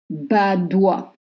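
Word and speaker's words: Badoit: Badois. O plus I makes the sound wa, and you don't pronounce the T.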